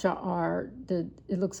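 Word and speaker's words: שער: It's um it's pronounced sha'ar.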